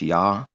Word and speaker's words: Yah: So then combined with the Y letter, it's Yah. But then the H sound has a dot in it, so it's pronounced.